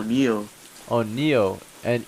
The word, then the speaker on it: Neo: Neil oh NE e l how do you spell it NE e o Neo oh Neo NE e o yeah mat okay